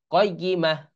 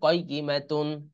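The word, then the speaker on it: قائمة: তাটা হা হয়ে যায়, তখন উচ্চারণ হবে কি? কয়গিমাহ, কয়গিমাহ। আর যদি মিলাই পড়ি, অর্থাৎ বানান এই শেষে না থামি, তাহলে হবে কয়গিমাতুন।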